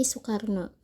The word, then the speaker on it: Soekarno: Yang pertama terdapat Oe yang dibaca menjadi U. Contoh kalimatnya di sini adalah Soekarno yang dibaca menjadi Soekarno.